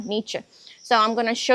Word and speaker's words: Nietzsche: I'm not pronouncing it exactly the way Germans would pronounce it, but I think that's what Americans pronounce it like, yeah, Nietzsche.